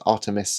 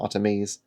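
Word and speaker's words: Artemis: I've already mispronounced it. It's Artimus, not Artamese.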